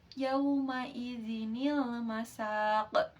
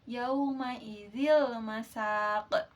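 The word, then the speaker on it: يَوْمَئِذٍ ٱلْمَسَاقُ: Nun wiqayah itu adalah nun penjaga, yaitu nun kecil dibaca kasrah ketika tanwin bertemu dengan hamzah wasal. Nah, contohnya terdapat dalam Quran surah Alqiyamah ayat 30 yang berbunyi yaumaidzinil masaq. Nah, jadi seperti itu pengucapannya. Jadi bukan seperti ini. Yaumaidil masaq.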